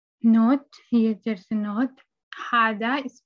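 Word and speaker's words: هذا: Hada is pronounced Hada, but it's written without the first alif.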